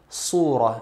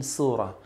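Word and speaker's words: صورة: Ali heavy Serato Authority please note here that the sword in the word surah should be pronouncing the heavy manner surah and not in a light manner with the same surah because doing this would change the meaning they would surah with Assad this means picture or photograph but the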